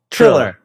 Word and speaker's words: Triller: Thriller Thriller Thriller Thriller did I say it right no you said Thriller he keep saying Thriller that's Michael Jackson song Thriller Thriller trill say drill drill triller triller okay so the triller CEO